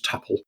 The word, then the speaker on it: tuple: What's your opinion on the correct pronunciation of tuple or tuple? I've always pronounced it tuple. Tuple. See, for me, that just makes me think of it only has two parts to it.